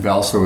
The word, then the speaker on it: Hvalsoe: name you can always just Google me and valo is spelled h v a l s o e